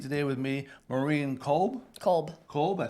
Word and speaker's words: Kolb: Kolb.